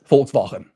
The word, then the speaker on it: Volkswagen: Volkswagen.